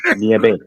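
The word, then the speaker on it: nieve: The E is a hard E, niebe.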